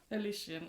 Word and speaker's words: Holition: have mentioned to me that I have been pronouncing wrong for the last I don't know how long. Thank you for that. Alician. Okay. I've been calling you Hollin, but it's all good.